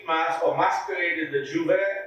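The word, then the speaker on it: J'ouvert: In Trinidad, every year, the first session of the street mass or masquerade is the Juve, pronounced Juve, or Old Mass.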